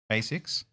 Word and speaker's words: Asics: Asics. Yeah, Asics.